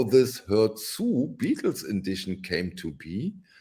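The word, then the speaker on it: Hör zu: Without the H is silent. The H is not silent. Herzu. Herzu.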